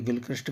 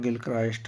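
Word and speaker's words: Gilchrist: ये गिलक्रिस्ट गलत लिखा है, इनका असली प्रोनाउंसिएशन जो है गिलक्राइस्ट है।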